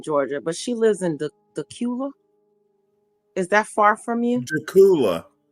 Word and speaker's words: Dacula: but she lives in dula is that far from you dula dula yeah the well I know right word I'm pronouncing it wrong don't worry about it I I called it Dacula like Dracula oh okay first time